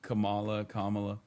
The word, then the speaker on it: Kamala: That is how you say Kamala.